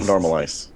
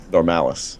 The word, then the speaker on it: Normalice: the entire game warpex so not normaliz no um it's actually it's normal and Malice together normalice yeah got it yeah